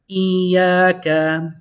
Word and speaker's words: إياك: We have a double E and a double A. إياك. إياك. The ya has a shadda. So the ya, one takes sukun, the other one takes his haraka.